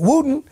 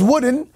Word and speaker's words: Wooden: uh Yours Truly uh he got my name wrong he called me Bishop Wooten and my name is wooden and he also called